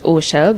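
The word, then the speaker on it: Orchelle: Hi, my name is and my stage name is Oell. That's spelled O R C H E L L E.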